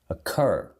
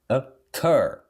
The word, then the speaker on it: occur: Occur. Occur. Occur. Occur. Occur. Ocorrer. Occur. Próxima. Condition. Condition. Condition. Tá vendo? Sem estresse, sem sílaba tônica. Condition. Shen. Eu penso que é occur, né? Occur, mas é occur.